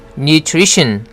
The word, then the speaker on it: nutrition: Nutrition. new 부분이 약간 길죠. 장모음입니다. new 하고 nutrition. tr 발음은 tree라고 해야 되죠. tree 아니죠. nutrition 아닙니다. 그리고 또 한 가지 tion으로 끝나는 단어는 tion을 션으로 발음하고 스트레스는 tion 바로 앞에다 두지요. 여기서는 tree 할 때 re 부분에 강하게 스트레스가 들어갑니다. 그래서 발음이 nutrition 하게 되는 거죠.